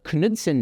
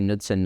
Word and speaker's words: Knudsen: as the the the Kudson number. I found out you're supposed to pronounce the K. I'll probably say Nudson number by by accident throughout this talk.